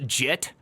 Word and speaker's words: git: to stick with fugitive it's pronounced jit okay well now that